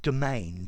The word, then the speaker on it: demesne: um if you notice the pronunciation of this word is just like domain d-o-m-a-i-n yeah and effectively